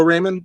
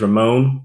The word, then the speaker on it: Ramon: to let you know it is the y is silent you know it gets everybody every time uh you gotta talk to my mom about that but it is ramon it's my full name's